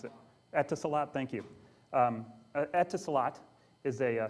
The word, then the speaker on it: Etisalat: I don't know how to pronounce it. Etisalat, thank you.